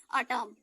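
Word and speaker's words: autumn: एम के बाद एन आने पर एन साइलेंट, जब भी एम के बाद एन आएगा, जैसे एग्जांपल के द्वारा आप समझ लीजिए, ए यू टी यू एम एन, एम के बाद क्या आया, एन आया, तो हमने किसको साइलेंट रखा, एन को साइलेंट कर दिया।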